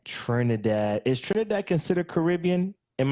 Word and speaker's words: Trinidad: Trinidad.